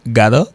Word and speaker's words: gotta: G-O-T-T-A prononcer gada, il signifie godo, il prononcer godo.